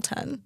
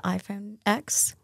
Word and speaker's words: iPhone X: I say like the iPhone X, people are like, what? It's like, no, it is spelled X. It's fine. I know it's 10.